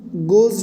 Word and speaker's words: goes: Goes rhymes with nose.